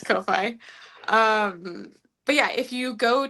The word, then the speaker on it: Ko-fi: pronounced coffee. Oh, yeah, it's Ko-fi.